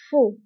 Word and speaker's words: faux: وانتبهوا بالنسبة لفو كنكتبوها بإكس آخر الكلمة لكنها لا تنطق. faux.